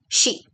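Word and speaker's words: し: But in Japanese you don't have the sound c. So you have to pronounce it as she she so si.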